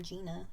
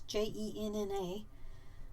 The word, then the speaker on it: Jenna: you say her name i don't think it's like my name gina it's j-e-n-n-a i would say that's jenna um is how to